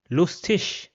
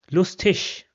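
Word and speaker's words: lustig: Another example will be lustish which means funny lustish.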